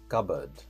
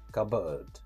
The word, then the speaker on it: cupboard: The next word we have is cupboard. Cupboard. Cupboard. In American pronunciation, we say cupboard.